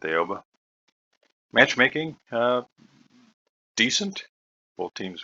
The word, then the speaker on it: Aoba: playing the tier 6 aoba or alba depending upon your particular flavor pronunciation i'm going to stick with aoba matchmaking uh decent both